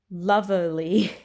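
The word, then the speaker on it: Luverly: Next one, and the last one, is called Loverly, and it's spelt L-U-V-E-R-L-Y, described as Lang Lang Jasmine and Geranium.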